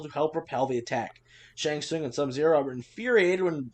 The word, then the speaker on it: Shang Tsung: together, forcing the tournament Shang Tsung, right? Shang Tsung. Oh, Shang Tsung, thank you. Don't pronounce the T.